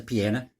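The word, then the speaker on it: Peña: chief sam pineda said his last name is p-e-n-a i believe it pronounced a piano it's got the little squiggly line over the end narcan is a drug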